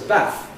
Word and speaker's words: bath: These historically had a short vowel. So it was bath.